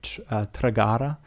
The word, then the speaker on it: Tragara: I'm looking at the notes here because I don't want to mispronounce it. It's called Tragara.